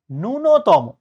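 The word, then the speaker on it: ন্যূনতম: কিন্তু আমাদের মনে রাখতে হবে যে এইটার উচ্চারণ নূন্যতম না। এটার উচ্চারণ হচ্ছে নুনতম।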